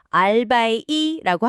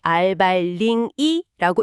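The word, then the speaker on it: 二百零一: 예를 들어 201을 읽을 때 0을 무시하고 알바이라고 하면 안 됩니다. 네. 반드시 알발링이라고 읽어야 합니다.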